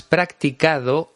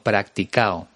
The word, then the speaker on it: practicado: Leo Harlem no dice practicado, sino practicao. No pronuncia la D en la terminación ado de los participios.